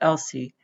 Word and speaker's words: ELSI: legal and social implications abbreviated as e l SI and pronounced LC raised by genetic and